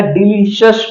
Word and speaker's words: delicious: उसी तरह से अगला जो वर्ड है DELICIOUS, इसको पढ़ा जाएगा डिलीशियस, पढ़ा जाएगा।